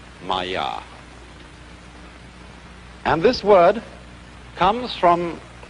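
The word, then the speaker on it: māyā: i'm going to write that down for you pronounced maya and this word comes from a root in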